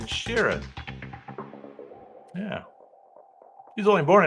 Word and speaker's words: Sheeran: I got to say it right. It's not Shirinan. It's Ed Sheeran.